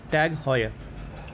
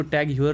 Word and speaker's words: TAG Heuer: तो इस ब्रांड का नाम है टैग हॉयर। ठीक है, इसका स्पेलिंग टैग ह्यूअर है, लेकिन इसको टैग ह्यूअर नहीं बोलते, इसको बोलते हैं टैग हॉयर।